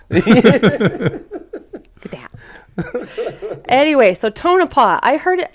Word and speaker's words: Tonopah: Tonopah I heard it I heard it said a couple different ways but I think it actually is Tonopah yeah right that's how I've been here okay so don't come at us if we're saying it wrong most people have said it this way so what other way